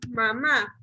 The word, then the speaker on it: mamá: Pero ¿qué pasa si yo tengo mamá? Perdón, chicos. Mamá. Es una buena porque lleva la última. Primero separemos en sílabas. Ma, ¿verdad? Lleva el acento en la última ma.